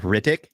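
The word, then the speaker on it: Hrithik: first name is like rtic so it sounds kind of awesome the I believe the H is silent damn it I forgot what I was getting ready to say yeah like rck so Ric rashan I believe but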